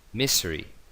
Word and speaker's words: misery: Misery, lo mismo, misery. Una S entre dos vocales, pues una S vibrada. Misery.